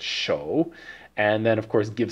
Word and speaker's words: 手: because it's a Mughal we know it's the third tone so it's show and then of course